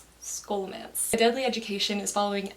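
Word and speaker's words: Scholomance: to pronounce this word it's scolomance not show romance skolamance deadly education is following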